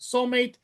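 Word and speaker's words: Soulm8te: Fun fact, the title is pronounced soulmate, and the eight connects it directly to the AI model numbering used for Megan, which has a three, not Becca, but Megan.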